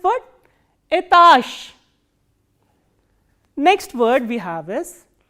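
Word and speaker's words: этаж: must be knowing that when a voiced consonant comes in the end, it is pronounced as its voiceless counterpart. So, what is the voiceless counterpart of j? It is sh. So, how will you pronounce this word?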